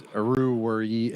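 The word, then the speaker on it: Oruwariye: I'm not even gonna try to pronounce his last name. Yeah, no, it's Aruwari.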